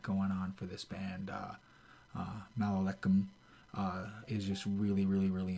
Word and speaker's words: Malakhim: Malakhim is the way it's pronounced.